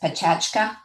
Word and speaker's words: Pecha Kucha: Uh, It, yeah, so Sarah, Sarah, the format, you write it Pecha Kucha, but it's actually pronounced Pechachka.